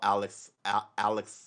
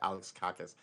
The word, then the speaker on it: Alexakis: Arthur Paul Alexakis. Alex, I always throw another syllable in there. Alex Kakis.